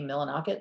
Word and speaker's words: Millinocket: Millinocket, is that how you pronounce it?